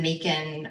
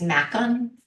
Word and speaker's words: Makin: They think it's Macken."